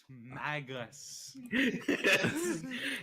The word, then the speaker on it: Magus: Magus. Yeah, that's usually pronounced Magus. So I'm just like Magus, Oh, So, Like- so good. like haggis.